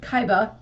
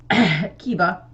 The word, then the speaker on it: Keba: the wal School principal keba or if my brain keeps wanting to pronounce it Kaiba but I know that's not right keba and he's like we need